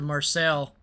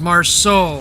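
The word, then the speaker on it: Marceau: after the German CV probably next or the Marcel oh Marse oh I can't say it pronunciation I have premium time I I run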